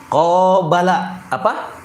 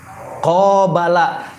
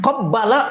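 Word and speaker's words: قابل: Bertemu qobala, qobala. Tapi kalau Bapak Ibu bacanya qabbala, waduh parah urusannya. Qabbala artinya aku mencium.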